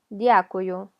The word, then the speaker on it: дякую: Hay gente que lo escucha como y-a, дякую, pero es d. Hay que pronunciar la d, o sea, tocar con la lengua, se me olvidó cómo se llamaba, las encías, дякую, y así nos va